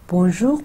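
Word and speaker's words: bonjour: अब अगेन देखिए मेरी इंटोनेशन, पहले जब मैं खाली मैंने कहा बोंजूर तो बोंजूर पे के बाद वो इंटोनेशन थी बोंजूर. अब चूंकि मादाम का वर्ड आ गया तो वो जो इंटोनेशन है वो आखिरी वर्ड पे चली जाएगी.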